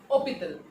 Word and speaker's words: hôpital: H, so let me tell you, in French H is always silent.